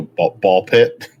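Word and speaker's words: Ball x Pit: The X is silent apparently. Okay. So, ball pit.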